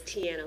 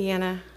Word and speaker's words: Tiena: Did I pronounce that right? It's all right. I'm sorry. I get it all the time. It's Tiena. Tiena.